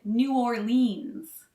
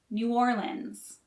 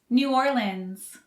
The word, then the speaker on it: New Orleans: during the winter there some people mispronounce the city and call it new orleans but that's wrong according to the locals the correct way to say it is new orleans new orleans new orleans new orleans